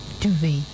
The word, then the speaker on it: duvet: Duvet. DUVAH. That's wrong. The correct spelling of duvet is actually DUVET, duvet. It's duvet. The T is silent.